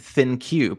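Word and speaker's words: ThinQ: LG's UI is named thin cube it's spelled like think with a Q oh that's a clever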